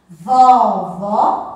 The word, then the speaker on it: vovó: Vovô tem o som fechado. Vovó tem o som mais forte.